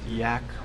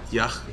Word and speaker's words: Yach: And do you pronounce it Yak? Yach, like Yach. In Bach.